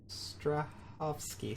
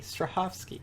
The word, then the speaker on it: Strahovski: Ivon Strahavoski. No wonder you can't remember her name. Miranda, is he voiced by Ivon Straavosski? Strahovski. Strahovski.